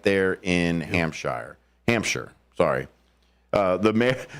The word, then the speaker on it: Hampshire: it's not a a real real Shire it's pronounced Hampshire though Hampshire yes Hampshire it's out west of